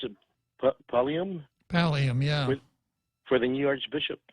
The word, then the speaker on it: pallium: But anyway, I was curious why I didn't notice any of the elected officials at the how do you pronounce it, Pallium? Pallium, yeah.